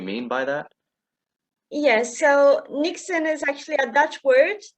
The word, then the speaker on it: Niksen: to ask you um you say your book nixon is that is that how it's pronounced yes it is um you say it's